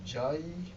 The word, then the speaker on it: Ujjayi: It's called the Ujjayi Pranayama. The word Ujjayi is spelled as U-J-J-A-Y-I, Ujjayi.